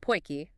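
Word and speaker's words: potjie: idea what AI is oh AI it's pronounced poiki by the way is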